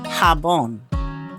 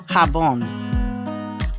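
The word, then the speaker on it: jabón: Letter J has the H sound as in happy. Soap. Habon. Habon garden elardin Hardin and sometimes letter G has the H sound as well as in hente.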